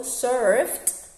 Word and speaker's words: surfed: Okay, remember that in here finishes with ed, but you don't have to pronounce the second syllable because it finishes with f. It doesn't finish with t or d.